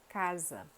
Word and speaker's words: casa: português são dois s segundo caso da letra s com som de z que é um s.a. entre duas vogais por exemplo casa coisa casa coisa e terceiro caso da